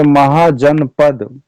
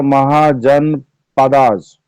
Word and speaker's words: महाजनपद: होते थे ठीक है महाजनपद इसको अंग्रेजी में लोग उच्चारण करेगा महाजन पदास बट नो in Hindi it is pronounce महाजन पद वी आर इंडियन व